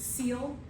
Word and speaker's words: coel: When you see C-O-E-L, you pronounce it seal, like the animal, a seal that goes into the ocean.